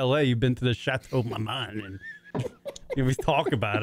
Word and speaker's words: Chateau Marmont: I only want to go there so I can fucking text Kieran that I'm at the Chateau Marmont.